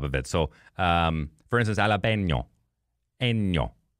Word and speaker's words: jalapeño: So, for instance, Alapeño. Eño. So it's more of like a high N rather than a low N. You know what I'm saying? You're reminding me of Trailer Park Boys. Ricky, it's Jalapeño.